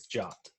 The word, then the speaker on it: JWT: I think the official pronunciation of JWT is JOT. To retrieve the JOT token. JWT just seems a lot. It seems like that would be pronounced JWT.